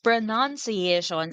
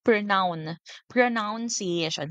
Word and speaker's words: pronunciation: no tagalog pag bigkas pronunciation ang spelling po na nung nan ay n. Okay so ang pagbigkas din n ay pronunciation. Hindi po pronoun pronounciation hindi po ganun. Okay dapat po ay pronunciation.